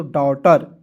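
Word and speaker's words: daughter: जी एच को क्या पढ़ते हैं? साइलेंट कर देते हैं तो डॉटर।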